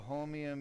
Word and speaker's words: holmium: the laser that we use is called the homium yag laser homium yag laser that's spelled h-o-l-m-i-u-m-yag yag stands for yitrium argon garnett